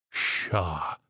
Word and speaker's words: chat: that's his damnable name what's chat in french c-h-a-t spelling it to him shah says he shah says i spell